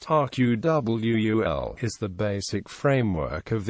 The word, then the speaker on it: AQAL: Ken Wilber's AQAL, pronounced RQWUL, is the basic framework of integral theory.